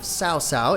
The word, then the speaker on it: Cao Cao: EDITOR'S NOTE: Cao Cao is pronounced Tsao Tsao, NOT cow cow.